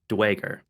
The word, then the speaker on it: Duergar: The way I usually pronounce it is Duergar in kind of 3 parts. They match it together as Duergar, except Duergar. they have English accents, so they're leaving off the R, so it becomes Dwager.